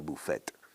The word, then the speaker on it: buffet: Buffet, así se pronuncia buffet. O sea, lo pronunciamos un poquito a lo francés.